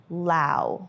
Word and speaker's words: Laos: So we're gonna go ahead and pronounce it Lao from here on in because we have traveled here and now we can correct everybody and be like, it's actually Lao.